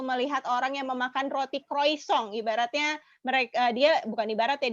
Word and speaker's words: croissant: Biasa orang tulisannya croissant, tapi bacanya croissant.